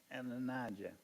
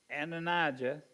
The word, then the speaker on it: Adonijah: Now, how do we pronounce that word again? Adonijah.